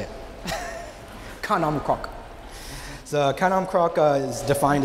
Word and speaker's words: khanom krok: Kanom krok.